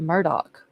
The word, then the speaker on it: Murdaugh: then his last name everybody pronounces it Murdoch like m-u-r-d-o-c-k even though it's spelled